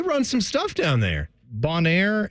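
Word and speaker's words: Bonaire: some stuff down there Bonair and is that how you say it b o n a i r e that sounds good Bonair and Kur kurel Aruba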